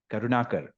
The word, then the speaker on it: Karunakar: kamut and today we have with us KV karunakar KV am I pronouncing your second name right yes yeah are